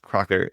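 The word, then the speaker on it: Kracher: We have Cracker, which is pronounced Crocker as well from Austria.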